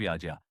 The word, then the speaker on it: यज्ञ: आगे वह यज्ञ के महत्व की बात करते हैं। यज्ञ केवल ओम स्वाहा बोलने भर का नाम नहीं है। संस्कृत में इसका शुद्ध उच्चारण याज्ञ है, न कि यज्ञ।